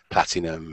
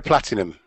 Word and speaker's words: Platignum: Would have been a Platinum, not the Platinum in terms of the Japanese Platinum. It is spelt Platignum, P-L-A-T-I-G-N-U-M. Platinum.